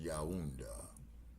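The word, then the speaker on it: Yaoundé: That's pronounced Yaunda.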